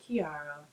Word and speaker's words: Ciara: I think her name, she pronounces it Kiara London.